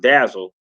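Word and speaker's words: DASL: digital asset shared ledger Basl pronounced dazzle or dazzle is built on top of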